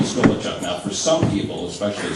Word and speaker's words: Gulachok: Lord Buckley said uh my last name is gachu now for some people especially slow people it's a a hard name to pronounce and a hard name to remember so